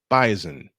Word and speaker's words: bison: the North Dakota State Bison and yes I said it right the s pronounced like a z bison in a thriller